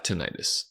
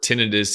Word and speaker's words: tinnitus: why do I have tinnitus you may hear me say tinnitus or tinnitus in this video both pronunciations are acceptable Healthcare professionals like myself typically say tinnitus alright so here we